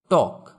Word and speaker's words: talk: টক, TALK, এখানে এল এর উচ্চারণ হবে না।